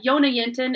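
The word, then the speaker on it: Jonna Jinton: know a lot of yonah yintan's uh yona yintin it's spelled j-o-n-n-a-j-i-n-t-o-n but she's got a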